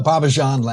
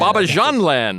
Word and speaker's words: Bobbejaanland: a 3D media-based immersion tunnel attraction at Belgium's Bobbejaanland. Did I get that? Pretty close. Bobbejaanland. Bobbejaanland.